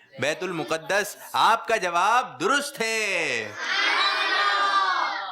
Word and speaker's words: بیت المقدس: بیت المقدس۔ بیت المقدس، کچھ لوگ کہتے ہیں بیت تو یہ تلفظ جو ہے یہ صحیح نہیں ہے، بلکہ درست تلفظ کیا ہے؟ بیت المقدس۔ آپ کا جواب درست